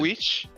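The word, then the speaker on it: The VVitch: Witch? No, just it's called Witch, but it's spelled like VVITCH.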